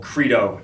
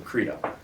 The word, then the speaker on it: Credo: There's no asterisk over the E where it's like an A. It's Credo. So stop calling it Credo. It fucking pisses me off. It's Credo. It's Credo, all right? It's a hardie, not a softie, so Credo.